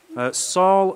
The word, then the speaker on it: Salle: you to Sally oh so that's how it's pronounced s a ll e Saul st.